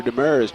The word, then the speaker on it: Demers: We're going to see Andrew Demers checking into the ball game. I pronounce it Demers. I'll see how the officials pronounce it here. And big. Yep, Demers.